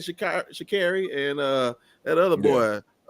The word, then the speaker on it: Sha'Carri: Sha'Carri.